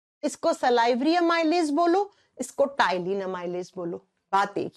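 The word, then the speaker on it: ptyalin: एक नाम होता है इसको टाइलिन अमाइज भी कहते हैं अब आप कहोगे आपने तो पी से लिखा है पी प्रोनाउंस के समय साइलेंट हो जाता है आप कहोगे हिंदी में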